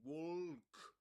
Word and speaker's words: walk: This L there is always silent. We don't say walk, but walk. Walk. Okay? Walk. And okay, so we don't say walk, but walk. Walk with a long O sound.